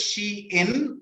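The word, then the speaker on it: Shein: maybe maybe chain or something right yeah it's pronounced as she in and so it's a contracted version of she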